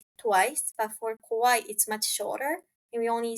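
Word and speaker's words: かわいい: sure I can do the sound so for kawaii for cute it's Kawaii okay it's kawaii for scary it's Kai Kai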